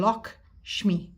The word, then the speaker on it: Lakshmi: And it says you say her name Lakshmi.